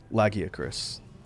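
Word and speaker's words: Lagiacrus: Thunderhorn or I should say it correctly now that we know the cannon pronunciation. Lagia Chris.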